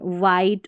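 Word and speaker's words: white: तो यहाँ पर सभी में H जो है ना वो साइलेंट है, वॉट, वीट, व्हील, वेन, वाइट और विच, यहाँ पर हमने H को नहीं पढ़ा है।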